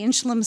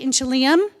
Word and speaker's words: Inchelium: And we had some a little bit of outcry from our campus that we were mispronouncing the name of um the inchelum center. For years we pronounced it inchelium and we were corrected